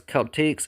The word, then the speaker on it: celtiques: I'm pronouncing it as Celtiques instead of the Romance Celtics.